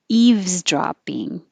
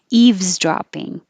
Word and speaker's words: eavesdropping: to say la la eavesdropping the v takes time but you do have to do it eves and go from the v to the z eaves eavesdropping i'll put the definition